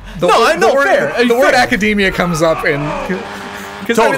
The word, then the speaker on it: Academia: heard it pronounced academia it is definitely academia because it is a real word in the English language what do you can